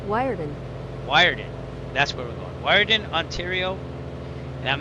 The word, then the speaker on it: Weert: I think it's Weart. It's not German. We It's We Okay, here's the pronunciation of Weert. All right. You know, I'm just going to play it. Here we go. Wireden. Wyen. Oh, I was totally wrong.